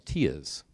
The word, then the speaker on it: TIA: Has anyone ever heard TIA, or some people call them TIAs? Yeah, so TIA is the right way to pronounce it.